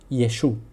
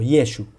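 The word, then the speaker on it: ישוע: personas de la Galilea Entonces lo más Sensato Es realmente pensar que se decía yeshua o yeshua y no así lo pronunciaban Entonces como Jesús pronunciaba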